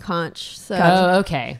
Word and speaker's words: conch: There's two ways of pronouncing it. There's conch and conch.